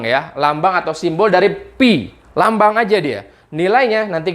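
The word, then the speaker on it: π: Ini bacanya pi, pi, ya.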